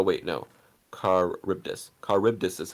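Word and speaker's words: Charybdis: fun fact oh wait no car ripped us caribbtus is how you pronounce the world per world pool monster fun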